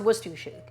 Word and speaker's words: Worcestershire: It's pronounced Worcestershire. A lot of these syllables are gone there.